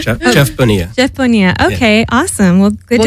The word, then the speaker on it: Bonilla: Jeff Bonilla.